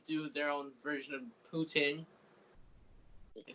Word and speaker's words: poutine: And they do their own version of poutine.